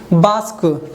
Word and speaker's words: bask: यहाँ पे लिखा है BASK, लास्ट में क्या है, SK, तो इस ए का उच्चारण क्या हो जाएगा, आ के रूप में हो जाएगा, इसको क्या पढ़ेंगे, बास्क, ठीक है।